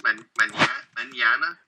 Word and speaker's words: mañana: So NH in Spanish just makes a ñ sound. Imagine it's NY. Ñ. And I know this is outside of the course, but in Spanish it's mañana. Mañana.